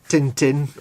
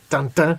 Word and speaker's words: Tintin: Yeah, there's not a big French animation scene really, apart from, you know, Asterix, yeah, Asterix and Tintin, or Tintin as it should be pronounced, get animated.